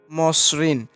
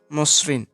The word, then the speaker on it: মসৃণ: তারপরে রয়েছে মসৃণ, মতে অবশ্যই অ আছে, অ এর পরে স এর নিচে রয়েছে রিকার, তো সেহেতু মতে ওকার চলে আসে মসৃণ।